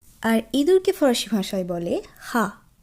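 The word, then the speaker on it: rat: যদিও এর বানান কিন্তু ইংরেজি ভাষার মতোই, কিন্তু যেহেতু আমরা শেষের অক্ষরটি উচ্চারণ করব না এবং এর উচ্চারণ ফরাসি ভাষায় হয়ের ন্যায় হয়, তাই এর উচ্চারণ হবে হা, হা।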